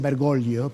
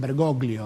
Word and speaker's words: Bergoglio: un poquitos están siguen italia dicen bergolio pero en la argentina se pronuncian bergolio o sea argentinizar on sus padres su padre